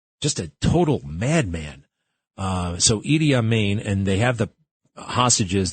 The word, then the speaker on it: Idi Amin: Idi Amin.